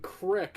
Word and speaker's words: creek: I know, but I've grown up saying crick, so if I'm saying it just naturally, I'm just gonna be like, oh yeah, let's go to the crick.